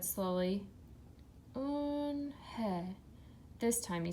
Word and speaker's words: Unha: It's pronounced Unha, and it means grace," Mr. Kim added. "Unha," Joey said slowly. "Unha."